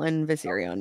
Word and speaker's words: Viserion: Regal is that how you say his name viserion yeah boom she locked underground in the mirror